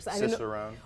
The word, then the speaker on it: Cicerone: Okay, so I also happen to know that you are a, and you have to help me with this pronunciation. Cicerone.